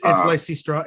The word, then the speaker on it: Lysistrata: It's Lysistrata.